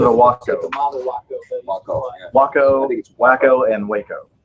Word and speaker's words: Waco: Waco and Waco. Three different ways to pronounce it. I think that's a W like Taco.